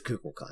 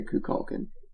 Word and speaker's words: Kukulkan: Some other people pronounce it other ways, but it is Kukulkan. That's how he says it in game. Do not say Kukulkan. That is just Ew, what? Kukulkan.